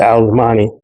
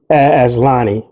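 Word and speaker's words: azlanii: So I picked that one up too, and it's actually the Alocasia alzamani. Let me actually say it correctly. It's called the Alocasia azlani.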